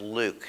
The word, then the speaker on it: LIWC: inquiry and word count liwc which is pronounced luke so when i referred